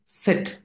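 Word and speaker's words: Zett: সেট মানে ওই যে জেড যেটা মেজরিটি মানুষ এটা ভুল করে এটাকে জেড পইড়া ফেলে না সাগনে সেট সাকসা সেট এটার উচ্চারণ কি হবে সেট সেট সেট এটা জেড না সেট জাগনিস জেড ওকে তারপর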